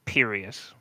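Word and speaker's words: Pireous: It's perious. It's like serious but with a P.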